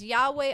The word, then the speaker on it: Yahweh: that the yhw yes Yahweh Yahweh is how we would say it how we pronounce it it really says Yahweh Our God Yahweh one